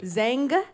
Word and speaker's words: Zang: Zang with a G at the end. Zang?